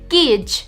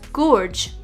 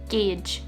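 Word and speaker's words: gauge: would be incorrect triathlon gage this word is often mispronounced as gorge but it is in fact gage jewelry not jewelry if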